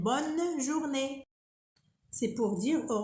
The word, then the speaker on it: bonne: Et il y a aussi d'autres manières comme bonne journée. Bonne journée. Ici, on prononce le N. Pourquoi? Parce qu'il y a deux N. On a deux N ici. On prononce N. Bonne journée.